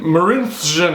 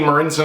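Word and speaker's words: Marinčin: For any Leafs fans who are concerned that they may have misheard me, that's [exaggerating pronunciation] Martin Marincin. Ma-rin-zchin. I went like between Ma-rin-chin and Ma-rin-shin.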